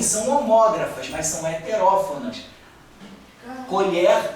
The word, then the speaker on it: colher: Colher. Colher com ó, com e fechado. Colher. Vou colher a minha safra de arroz. É um verbo colher com e aberto.